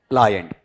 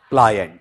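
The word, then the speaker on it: pliant: प्लायंट। पे ला ये आधा न और टे। अब बोल के बताओ प्लायंट।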